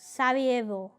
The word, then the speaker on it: Sarajevo: He was assassinated in Sarajevo, the capital of Bosnia is Sarajevo.